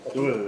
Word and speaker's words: Catuhe: Je prononce bien, Catu, parfait, qui vient de l'Université de Bretagne Sud,